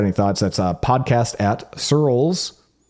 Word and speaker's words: Searles: That's podcast at Searles, which is spelled like pearls, but with an S, .co.